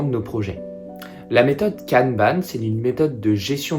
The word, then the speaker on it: kanban: sur vos projets alors tout d'abord canban qu'on prononce canban en japonais désigne une étiquette ou une fiche